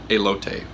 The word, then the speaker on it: elote: it or not pronounced elote um in Spanish which it's Mexican or Spanish you pronounce the ease so I'm pretty sure it's a low tape I'm pretty sure I'm